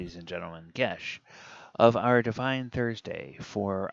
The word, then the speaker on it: geas: And we will ask Google to pronounce it for us. Geas. See? Geas. All right. So, I had always been mispronouncing this spell.